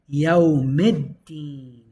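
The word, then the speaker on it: يوم الدين: and you're applying that you're not pronouncing the lam, you're pronouncing a dal in its place. So now you say yawmiddin. You go straight from the mim kasra to the dal.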